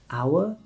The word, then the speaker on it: hour: H can be silent at the start of a word, especially in words that come from French. Honest, not honest, just honest. Hour, not hour.